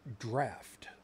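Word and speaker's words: draught: bottle, the canister, non-alcoholic draft. Now, I'm assuming it's draft because it's D-R-A-U-G-H-T, which yeah, normally... Draft. Yeah, because G-H, as we know full well, is, you know, pronounced F as in ghost.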